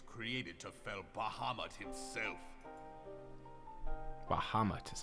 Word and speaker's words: Bahamut: Bahamut is how you say that.